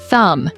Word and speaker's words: thumb: Sometimes English words have letters we don't say, like the K in no or the B in thumb.